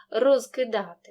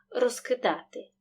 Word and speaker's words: розкидати: я маю на увазі за умови повільної вимови кінцевий приголосний префікса вимовляємо чітко оглушення не відбувається наприклад розкидати за швидкою вимови цей приголосний переходить у парний глухий і тоді в транскрипції буде так розкидати так само із префіксом